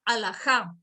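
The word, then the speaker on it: halajá: es la raíz hebrea alajá, alajá, con H al comienzo y con H al final, con J y con tilde en la A, tal cual como suena, alajá.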